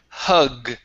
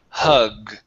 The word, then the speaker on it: hug: Okay, right here we have the word hug. Okay, make sure to pronounce that G sound. Hug. Hug. There you go, good.